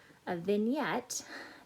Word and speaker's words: vignette: a series of vignettes vignette that is this funny sounding word let me find the right pen this this is pronounced vignette a vignette is a